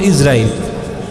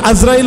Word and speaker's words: ইজরাইল: আসলে শুদ্ধ উচ্চারণ হল ইজরাইল। শুদ্ধ উচ্চারণ কি বললাম? ইজরাইল কিন্তু গলাতুর যেটা আমাদের মধ্যে প্রসিদ্ধ হয়ে গেছে কিন্তু এখন আজরাইল বলাটা অশুদ্ধ না বর্তমানে আজরাইল বলাটা অশুদ্ধ